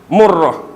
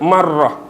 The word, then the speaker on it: Murrah: Murrah. Some scholars also call it marrah. Murrah or marrah.